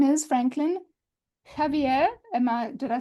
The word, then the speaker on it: Javier: His real name is Franklin Javier.